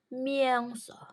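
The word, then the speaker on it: mięso: Oke kemudian yang ketiga tulisannya mieso tapi ada ekornya E ini dibacanya A jadi bacanya miangso miangso Oke lanjut tulisannya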